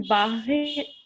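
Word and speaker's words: बाह्यः: जो पहला शब्द है उसका उच्चारण बाह्य ऐसे होगा। वाह या वाह, वाह तो भा आधा है और या जो है वो बड़ा बड़े आ की मात्रा है उसमें और फिर विसर्ग भी है, तो हमें वाह या संयोगजा ऐसे करना पड़ेगा।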